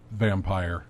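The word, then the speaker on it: Vampyr: Well, Yeah, they're pronouncing it Vampire, Yeah. but they're spelling it because of trademark issues.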